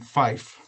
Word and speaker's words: Phyfe: The troubadour's real name is Owen Fife, and it's Phyfe is how it's spelled.